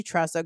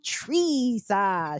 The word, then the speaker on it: Teresa: I've been calling you Tressa, girl. I'm sorry. my bad. Teresa.